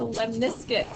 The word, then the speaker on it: lemniscate: So when you see R squared, you go, okay, that's a lemniscate. Lemniscate. That's how you spell it. Lemon biscuit. It just sounds kind of like a lemon biscuit.